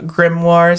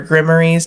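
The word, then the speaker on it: grimoire: They can also be called uh grimoirs or grimmories depending on how you pronounce it, which are basically medieval instruction manuals.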